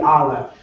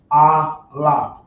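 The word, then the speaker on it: אלף: This letter right here is known as they call it the Aleph, but properly pronounced it be Aleph. If y'all can't see it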